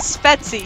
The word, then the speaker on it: Svetsie: And yes, it is Svetsie.